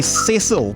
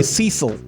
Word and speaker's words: Cecil: to pronounce your surname I would say Cil but um sometimes Americans say Cil Americans are wrong right okay ceil